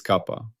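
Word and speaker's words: kappa: Its symbol is the Greek letter kapa pronounced kapa. I have previously used the simple letter k. That was an error. It is kapa.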